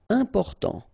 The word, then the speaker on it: important: Important, so final T not pronounced, and then remember you've got this EM, and after that it's a consonant, so it is here nasal.